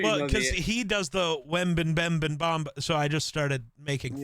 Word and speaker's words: Wembanyama: It's just Wembanyama. I'm not stupid. It's just way funnier to say Wembanyama. Well, and I just. Yeah, I know you know because he does the Wembanyama, so I just started making fun of him